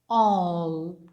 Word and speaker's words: all: All. It is pronounced O, not A. Here it is not an A. All. It is an O with rounded mouth.